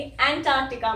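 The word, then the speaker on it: Antarctica: इस ए को हमें एह बोलना है, वही वाली जो हमारी फिफ्थ साउंड है, जो अफ्रीका में आई थी वही अंटार्कटिका में आती है, ओके। यही वाली साउंड, फिफ्थ साउंड, जिसको मैं ऐसे लिखती हूँ वॉवल रिप्रेजेंटेशन में, अफ्रीका, अंटार्कटिका, एन, एह, ये साउंड आ रही है यहाँ पे, तो ये साउंड आ गई।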